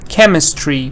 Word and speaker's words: chemistry: stress is not changing stress is again on chem chemist chemistry both of them stresses